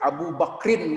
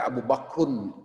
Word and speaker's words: Abu Bakrin: kecuali kalau itu disertai Abu bakrin kami bacanya abu bakrin harus dibaca itu tidak boleh abubah khun itu salah bacaan kita atau akhone salah juga yang betul Abu bakrin karena itu bahasa Arab